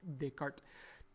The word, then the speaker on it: Descartes: this renee they could i don't really know how to speak french but i asked our french teacher that's what she said how you pronounce it descartes this rule is actually